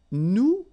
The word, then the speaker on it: nous: Okay, and then for nous, it will be, so if you remember correctly, so final S is not pronounced here.